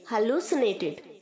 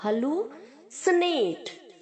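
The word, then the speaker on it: hallucinate: hello Sunit हैलोसिनेटेड हैलोसेंटेड यहां पर जो बच्चों की तरह साउंड करेगा और जो सी है वो एस की तरह साउंड करेगा तो आप इसे हलुसीनेट नहीं बोलेंगे हेलो स्नेक डबल ल के आगे जो यू है डबल ओ की तरह साउंड करेगा हलु और जो सी है वो एस की तरह साउंड करेगा हल्लू स्नेक hello स्नेक hello स्नेक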